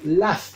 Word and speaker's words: laugh: A pesar de que se escribe con GH, vamos a pronunciarlo laugh.